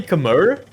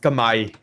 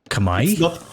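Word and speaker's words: Khmer: with Age of Vampires we all say kamur but actually it's pronounced kamay Kamai yeah yeah yeah it's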